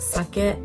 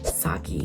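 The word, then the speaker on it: 酒: It's pronounced sake and not saki.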